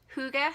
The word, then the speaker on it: hygge: She has assured me that this is an absolutely acceptable way to say it. She said Americans cannot be expected to pronounce something that you really don't have the letters in your alphabet to pronounce it.